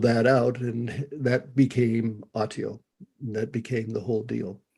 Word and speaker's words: Autio: So explain what Autio is. And Okay. forgive me for pronouncing it incorrectly.